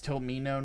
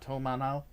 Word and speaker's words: Tomino: Well, that's the funny thing about it, Cordell, is that there's a joke with Wing fans, is it's Tomino, not Tomano.